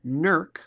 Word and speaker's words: Newark: local spot in Newark as they say here nerk it's just interesting you can hear New Jersey and say pronounce Newark differently as opposed to Delaware which